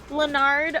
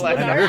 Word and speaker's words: Leonard: Leonard. Oh wait. how do you say His name is Leonard.